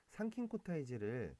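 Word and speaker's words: 参勤交代制: 여기 나오는 참근이란 키워드는 산킨코타이제를 한자식 풀이로 하면 참근 교대제라고도 해요. 이거는 일본식 발음이고 이건 한자식 표현이다. 산킨코타이제, 참근 교대제 같은 말이다.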